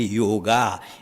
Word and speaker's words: yoga: not that that that it is pronounced first of all wrongly yoga it is yoga and then it doesn't